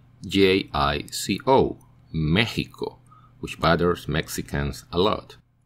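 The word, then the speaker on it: México: severe in the world Mexico and its variants like Mexicano the X is pronounced like the Spanish J seems it derived from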